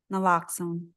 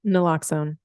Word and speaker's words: naloxone: Naloxone. Naloxone.